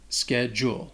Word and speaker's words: schedule: has two syllables and it can be confusing because of that ch it doesn't have a ch sound it has a k sound like a k sound and the d-u-l-e sounds like jewel schedule especially when you say